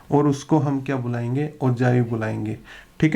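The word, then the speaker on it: ogive: Pronunciation ठीक है तो इसको ओजाइव बोलते हैं, ठीक है, या कुछ टीचर्स को मैंने ओगिव बोलते हुए देखा है, तो आप देख लीजिएगा इसकी एग्जैक्ट प्रोनाउंसिएशन क्या है। ओजाइव मेरे हिसाब से करेक्ट जो है इसकी प्रोनाउंसिएशन है, ठीक है।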